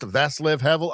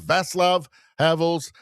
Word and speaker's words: Václav Havel: I guess it's pronounced Václav Havel.